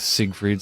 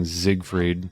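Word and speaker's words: Siegfried: Same with Sig Freed. Sometimes they say Sig Freed. This guy's saying Zigfrieded. That's more that's closer to the German pronunciation.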